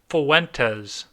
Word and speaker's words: Fuentes: How do you pronounce it? Fuentes.